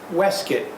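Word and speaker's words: waistcoat: Next came the waist coat, pronounced weskuit, which today's vest comes from.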